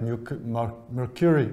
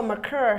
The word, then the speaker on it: Mercure: competitive sector, and where we see things like Mercury, or how do you pronounce the Safari's new name? Oh, Mercure.